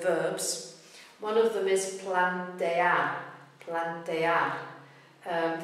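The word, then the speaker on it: plantear: is Plante Plante um the ending is AR and that's where the beat goes but the E is also a a strong it's also a syllable it's a strong vow so it's Plante Plante it kind of means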